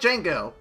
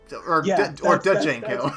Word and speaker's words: Django: I'm pretty sure the D is silent. So, Jimon Honsu. Yeah. Okay. It's like Django. Django.